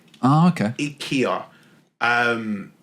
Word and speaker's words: IKEA: It's IKEA. Oh, okay. IKEA. And that's how the Swedish people pronounce it.